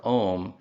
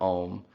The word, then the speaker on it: Om: And this is because the letters A and U in Sanskrit, if they occur together, they form a diphthong, which is pronounced O.